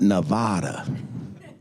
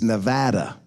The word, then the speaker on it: Nevada: said what is it it's not Nevada I was raised up I thought it was supposed to be pronounced Nevada no it's Nevada all right what I